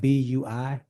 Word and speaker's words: Bui: If I happen to mispronounce, please forgive me. Min Kim, it looks like B-U-I.